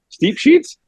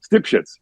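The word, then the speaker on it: Stipsicz: I'm like, Steep Sheets? No, Stipshits.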